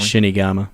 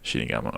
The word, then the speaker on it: Shinigama: How do you say it? Say it for me. Shinigama. Shinigama. Okay, I said that Yeah. right.